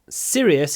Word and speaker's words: serious: Serious is serious. В американском английском они одинаково произносятся. Serious is serious, а британский английский serious. Э, это э serious. Serious это serious. Serious. Serious. Мы тянем.